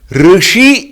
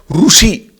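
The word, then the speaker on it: ऋषि: Like for example in Karnataka here, Rishi is pronounced as Rushi, which is wrong.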